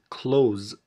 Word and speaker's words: clothes: خد بالك من كلمة clothes، ننطقها كده clothes ملابسك are different مختلفة.